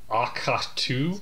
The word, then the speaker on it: Ahch-To: to the island of Ahch-To. Spell it. AHCH-TO. Ahch-To. I'm pretty sure it was named as a guy sneezed.